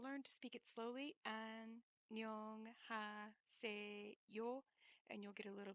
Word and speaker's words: 안녕하세요: Eventually, you'll come to a more natural way of saying it, which kind of leaves the H out, but that's just the way it sounds.